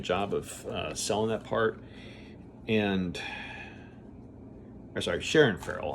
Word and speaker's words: Sharon Farrell: And so I thought that Shannon Farrell did a good. Shannon Farrell, I thought she did a good job of selling that part. Sharon Farrell, I was saying it wrong.